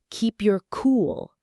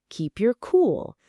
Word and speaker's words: keep your cool: The stress is on the last word. Listen. Keep your cool. Say it with us. Keep your cool.